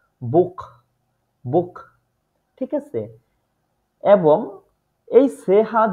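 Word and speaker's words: Buch: ইউ এ ও ইউ এই তিনটা আলফাবেটের পরে যদি সেহা বসে তাহলে সবসময় এটার উচ্চারণটা হয় খ এর মত যেমন এইখানে দেখেন বে এর পরে উ আছে সেহার আগে এই উটা থাকার কারণে সেহার উচ্চারণটা হইছে বুক বুক ঠিক আছে এবং এই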